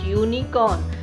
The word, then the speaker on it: unicorn: she dressed as dash unicorn. So here we will use the article an in front of elf, and unicorn we will use a because it is giving the sound of YOU.